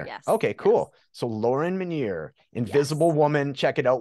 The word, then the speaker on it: Minear: use your last name just in case I mispronounced it so I'm really glad that in full disclosure you know so Minier yes okay cool so Lauren meniere Invisible Woman check it out we'll have all